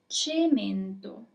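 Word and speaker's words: cemento: So our first word is chimeto.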